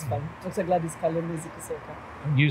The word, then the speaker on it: Kalema-Zikusoka: You can feel free to pronounce it how you would pronounce it. Yes, it's fun. Dr. Gladys Kalema-Zikusoka.